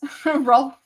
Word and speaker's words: Ralph: them as two slots Ral fin ra finds finds indeed is that how you do it ra pronounces it but it is spelled Ralph I don't understand but